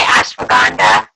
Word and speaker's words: ashwagandha: Well, you did say ashwagandha, right?